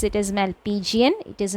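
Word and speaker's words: Malpighian: capsule okay and when you pronounce it please pronounce it as malpigian it is not some has a tendency of pronouncing it as malfigian which is wrong you will get the spelling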